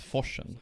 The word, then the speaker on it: Forsen: How do you pronounce Forsen? So that's Forsen.